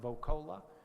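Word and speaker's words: Voccola: Last name is spelled V as in Victor, O-C-C-O-L-A, pronounced Vocola.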